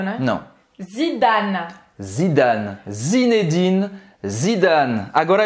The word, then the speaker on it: Zinedine: Zinedine, então eu não vou pronunciar esse E no final, eu não pronuncio o E no final, tá? Zinedine. Zinedine. Então vai terminar a pronúncia no N, tá?